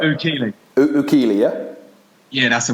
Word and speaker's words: Oukili: So today we've got Oukili. That's how you say it, right? Oukili.